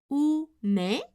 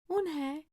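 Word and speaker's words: Unhei: "Oo-ne?" the girl asked, scrunching up her face. "Oo-ne?" some kids chanted. No, Eun-hye corrected. "It's spelled U-N-H-E-I. It's pronounced Eun-hye." "Oh, it's you-hey," the boy said.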